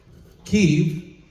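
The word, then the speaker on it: Kyiv: core to Russian history ke or Kiev depending on how you pronounce it the current capital of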